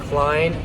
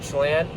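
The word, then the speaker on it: Chlen: to understand it is Klein Farms I know it doesn't look like Klein but it's Klein Farms it's spelled c-h-l-e-n which sounds like Chalan but when you see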